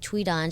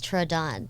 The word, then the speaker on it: Thuy Dan: always pronounced myself as Thuy Dan to all my teachers up until I actually went to college. And I was like, how can you have a TRA sound with a THUY spelling?